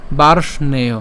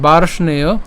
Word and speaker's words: বার্ষ্ণেয়: এখানে একসাথে বলেছি, হ্যাঁ, চাইলে হচ্ছে ওই রেফটাকে র করে উচ্চারণ করতে পারেন আরও সুবিধার জন্য, বার্ষ্ণেয়। হ্যাঁ, এটাকে উচ্চারণ আমি দেখিয়েছি, আমি তাও আরেকবার লিখছি, বার্ষ। তাহলে বার্ষ্ণেয় জায়তে বর্ণ সংকর।